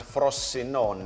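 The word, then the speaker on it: Frosinone: going down this season along with Genoa and frost sinone I probably pronounce that wrong you got it right over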